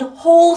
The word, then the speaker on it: whole: all whole ho hole all like ball and whole like Bowl you go bowling good nice tail tail